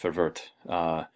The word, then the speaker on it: Verwoerd: And the Native Affairs Minister under Malan was a fellow named Hendrik Forvert. And Forvert is actually worth looking up. You spell his name Verwoerd. It's pronounced Forvert.